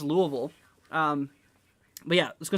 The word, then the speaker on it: Louisville: see here goblin says i'd love to hear people pronouncing louisville correctly yeah there's a lot of people call it louisville um i'm sure there's probably people in here that call it louisville yeah it's pronounced louisville um but yeah let's